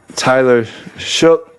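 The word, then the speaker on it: Tyler Shough: Tyler Shook is how you say his name.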